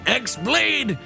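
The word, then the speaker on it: χ-blade: Yeah, it means the X-Blade. It's just pronounced like Keyblade, even though it's just one Keyblade.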